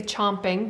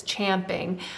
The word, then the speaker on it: champing: that is actually the a lot of people say chomping but it's champing um that is the correct way to say that and um it is